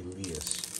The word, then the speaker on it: Elias: Elias? No, it's actually Elias. Elias? That's how they pronounce it.